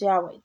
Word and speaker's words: Yahweh: YHWH is soon to be pronounced Yahweh.